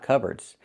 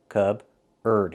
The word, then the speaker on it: cupboard: So, the P is silent. C. Cubard.